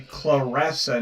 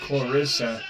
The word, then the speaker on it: Claressa: name is spelled different her name is actually claressa not Clarissa with one R and two s's all right